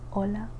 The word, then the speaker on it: hola: Ae the h sound silent. Ae yellow or hola yellow ola.